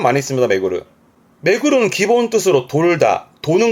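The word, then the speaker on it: 巡る: 메구르.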